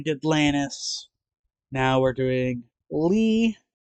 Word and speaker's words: Lea: Yes, this is how you spell Lee. When uh when I first saw this name, I I I was also like, how do you say that? Isn't Lee L E?